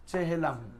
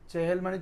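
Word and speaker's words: چهلم: চেহেলাম। চেহেলাম শরীফ বলে না? চেহেল মানে 40, ওখান থেকে মিম লাগাই দে, চেহেলাম, মানে উচ্চারণ শুদ্ধ হবে চেহেলুম।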